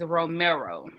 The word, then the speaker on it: Romero: So the correct pronunciation of his name is Romero.